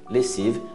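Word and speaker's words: lessive: Lessiva, até o V, não pronuncio E.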